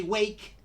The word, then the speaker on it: wake: But this E is a mute E. That means that we don't pronounce it.